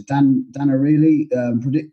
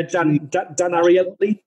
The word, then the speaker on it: Dan Ariely: the past a book by, I can never pronounce his name correctly, but I can put it in the notes later. Dan Ariely, I think it's. Yeah, Dan Ariely. Yeah. Dan Ariely.